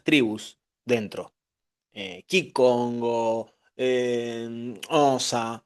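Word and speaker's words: Xhosa: Eh, Kikongo, eh, Osa, así se pronuncia, es el idioma de las chasquidas, eh, sules, en fin, infinidad de etnias.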